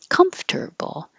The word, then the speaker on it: comfortable: it sounds like because now it's three syllables comfortable comfortable and even if it's